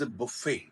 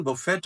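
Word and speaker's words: buffet: this seems to बी बफेट बट इटस बुफे बुफे hotel वगैरह में खाना लगता है शादियों में खाना लगता है जब आदमी प्लेट उठाकर खुद जाके खाए व सेल्फ जो सर्विस होती है उसको बुफे कहते हैं हा इसकी प्रोनंसिएशन बफेट भी है लेकिन न इट वर्ब इट बफेट न ट noun it बफेट T silent Russian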